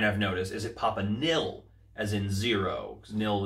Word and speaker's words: Nihil: So the Papa Nihil figure comes with a standard pop box.